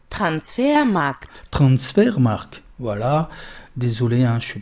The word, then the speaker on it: Transfermarkt: D'ailleurs, la petite, elle nous dit comment ça se prononce. Transfermarkt.